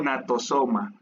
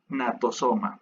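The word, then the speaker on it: gnatosoma: Esta no es una cabeza, bueno, se le conoce más bien como falsa cabeza o natosoma. Se escribe G, natosoma.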